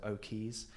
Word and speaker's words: Oquays: I'm at O'Keys, which is spelt Oquays, like key as in a dock or a wharf, so O'Keys.